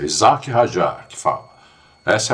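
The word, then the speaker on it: Isack Hadjar: Esse é o esse é a pronúncia eh do Rajá certa, né? O pessoal aí tá falando em inglês. Ah, Isaac Rajar, isso não existe, né? Ele é francês. É Isaac Rajar que fala.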